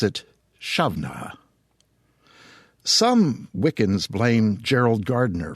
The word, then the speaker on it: Samhain: the barely pronounceable Samhain should be pronounced Shavna if you're a male, or Havna if you're a female. However, as I understand it, nowadays most Gaelic-speaking folk, men or women, simply pronounce it Shavna.